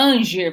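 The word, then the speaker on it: hanger: é com h a Ranger Vamos pensar é algo do tipo e se pronuncia Ranger se pronuncia Ranger se escreve muito diferente de como se pronuncia Ranger que a gente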